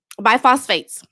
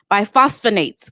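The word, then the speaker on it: bisphosphonates: Biphosphates. No, I said it right. Biphosphonates, guys. I put biphosphates here, but it's biphosphonates.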